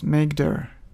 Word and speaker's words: mkdir: creating folders in Linux we use mkdir command which is usually pronounced as makeer so we type makeer